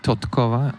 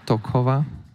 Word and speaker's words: Totkova: Alex Totkova. There's a slight pronunciation mistake. There should be Totkova, not Tokova.